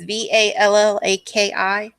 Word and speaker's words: Vallaki: The doll was made by Gadolf, Gadof Blinsky, the toy maker of Valaki. I think it's Vallaki. And I apologize Oh, for pronunciation.